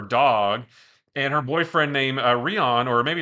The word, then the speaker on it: Rion: and her boyfriend named Rion or maybe it's Ryan it's r i o n it's spelled like Lion but with an R but I thought Rion